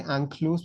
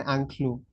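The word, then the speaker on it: inclus: Uh we don't say ankluse, we say anklue. Ancl we don't we don't pronounce the s.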